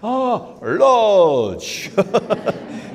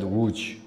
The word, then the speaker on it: Łódź: By the way, he was not so talented as you in pronouncing the name Łódź. Yeah. Each time he saw me, he used to say, Lodge! Yeah, his way. Lodge! Yeah, he never said Łódź in his life.